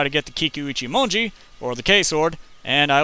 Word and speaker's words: Kikuichimonji: I finally pronounced it right. Finally. It's the Kikuichimonji.